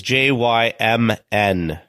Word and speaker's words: Jymn: As they used to say, the P is silent, like in swimming.